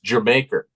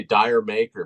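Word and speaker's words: D'yer Mak'er: for years but it's your maker I say dire maker but it's your maker and it's supposed to sound like Jamaica yeah and of course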